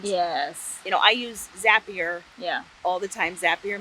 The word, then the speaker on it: Zapier: could never you know um we'd say is it zapier or zapier yeah and a couple years ago i saw they put the tagline zapier makes you happier yeah thank you yeah